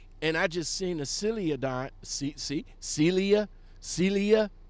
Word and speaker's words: Celadon: Celadon. I pronounced it right this time, okay?